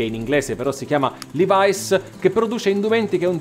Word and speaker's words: Levi's: chiamerò questa azienda Levis Ricordatevi però che se andate negli Stati Uniti e in un negozio di abbigliamento chiedete dei jeans Levis nessuno vi capisce Levice è la pronuncia corretta questa azienda come tutte